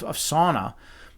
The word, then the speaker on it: sauna: I don't know if you guys know the correct pronunciation of sauna, but it's actually sauna. Sauna. All right, and it's from Finland, right? That's where saunas came from.